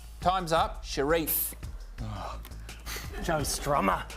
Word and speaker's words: Sharif: Cherie. Wrong. Still open. Who don't like it? Pierre. Sharia. Renee, Lucy, would you like to pronounce it correctly? Time's up. Sharif.